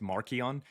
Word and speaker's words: Marcion: And his name means, it's pronounced Markion.